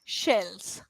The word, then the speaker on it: shells: snake right cells whereas sh if you look at my mouth formation sh it's rounding a little sh yeah or maybe